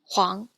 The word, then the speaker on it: huang: Then we have UANG, which is pronounced like Wang. For example, Huang.